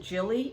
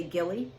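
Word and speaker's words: Gilli: gilly that's another brand some people pronounce it jilly it's g-i-l-l-i i say gilly this is the gilly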